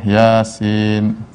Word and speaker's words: Yasin: Yasin. Dibacanya bukan toh, dibacanya bukan yes atau yes, bukan.